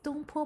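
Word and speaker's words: 东坡: how to say the dish name yes it's don po park in mandarin is don very good so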